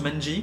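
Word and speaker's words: 卍: En japonais, ça se prononce Manji.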